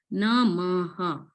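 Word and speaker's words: नमः: So that dot denotes the Visarga sound. So here we are pronouncing the Visarga as Ha. Namaha.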